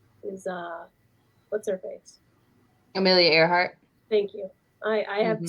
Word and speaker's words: Earhart: And, her last name is pronounced Earhart, like the man in the painting's looking up in the air, but it's spelled with an E.